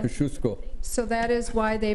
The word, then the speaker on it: Kosciuszko: It's pronounced know, Kosciuszko.